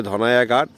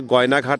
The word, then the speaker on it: গয়নাঘাট: কিন্তু উচ্চারণ ভেদে আমাদের এলাকায় গ কে ঘ বলে ফেলে। কেউ বলে ধনাইয়াঘাট। আসলে গয়নাঘাট নামে পরিচিত।